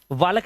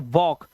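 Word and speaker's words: walk: टॉक वालक नहीं पढ़ते। इसे पढ़ते हैं वॉक। तो यहां पर हमने देखा कि हमारा एल साइलेंट हो गया है।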